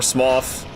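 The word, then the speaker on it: Smough: All right, we got to Super or Smoth is the actual pronunciation.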